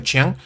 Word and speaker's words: Qian: Viene de Qian, se pronuncia Qian, por eso no se pronuncia Yi, se pronuncia Yi-Chi, porque la Q es Ch en chino.